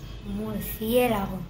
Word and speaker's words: murciélago: Murciélago. Murciélago, cuatro pedazos de sílabas. Murciélago. Es como es esa palabra. Esdrújula y en este caso acentuada porque siempre, como decimos, debe estar acentuada.